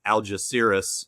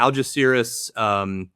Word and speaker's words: Algeciras: Well, there's two ways to pronounce it. There is the way I pronounce it, which is Algeciras, and then there's the proper Spanish way, which I probably still wouldn't be able to say, but I don't have the good Spanish accent.